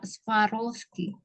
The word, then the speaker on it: Swarovski: bahasa Indonesianya pakai W Kalau bahasa Inggrisnya dia pakai v jadi sparoski kayak apa kayak Rusia